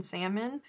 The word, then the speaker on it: salmon: mean that's fighting words if you're pronouncing the l in salmon you're just you're you're